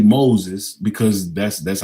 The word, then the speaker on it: Moses: You know, cuz he doesn't even pronounce the Z at the end. He just say Mazi.